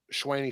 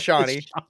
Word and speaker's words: Shawnee: that though that um Swaney Smith might be returning for that so that might who Swaney how do you say Johnny Johnny is it Shawnee it's Shawnee whatever Shawnee Smith oh my